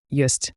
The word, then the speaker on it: ёсць: Here the yo in yest. It's like yo plus s h c h soft s.